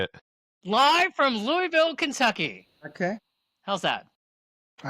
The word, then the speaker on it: Louisville: A lot of people say Lewisville. Never have just dumb. But the uh prod correct pronunciation is Louisville.